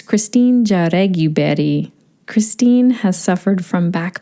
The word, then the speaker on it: Jaureguiberry: Let me first pronounce Christine's name because I've been working on it. It's Christine Jaureguiberry.